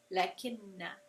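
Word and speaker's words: لَٰكِنَّا: It's just pronounced when you're continuing recitation, lakinna.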